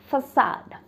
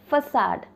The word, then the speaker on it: facade: So the word is facade. Facade. तो जब आप इस वर्ड को बोलेंगे तो आपको एस साउंड पे ज़्यादा स्ट्रेस देना है, राइट? facade, facade.